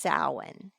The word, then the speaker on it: Samhain: s m h a i n but it's pronounced sa and it's from the ancient Kelts and it